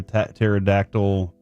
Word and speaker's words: pterodactyl: Your son was the one that told me like, "How come you never hear a pterodactyl go to the bathroom?" Cuz the P is silent.